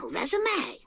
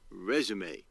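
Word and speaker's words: résumé: And the first step is an eye-catching resume. No, I believe it's pronounced resume. Actually, both are acceptable.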